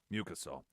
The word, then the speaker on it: mucosal: It's mucosal. Had the syllable wrong emphasis. Mucosal.